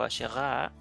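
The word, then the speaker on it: Asherah: construidas de madera principalmente la diosa acera o acera o aserá pronunciada en hebreo era tallada en árboles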